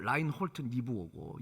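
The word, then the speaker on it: Reinhold Niebuhr: 독일 발음은 라인홀트 니부어고 영어식 발음은 라인홀트 니버라고도 합니다.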